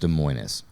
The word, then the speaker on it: Des Moines: You know it's pronounced Des Moines.